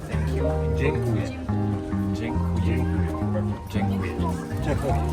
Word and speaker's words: dziękuję: Dziękuję. Dziękuję. Dziękuję. Say one more time. Dziękuję. Dziękuję. Dzięki. I'll take dzięki.